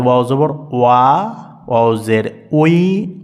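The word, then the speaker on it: وِ: ভুল ভুল করে বসে এটি কিন্তু ভুল সঠিক উচ্চারণ হচ্ছে ওয়াও জের উই উই আমরা কিছু দেখানোর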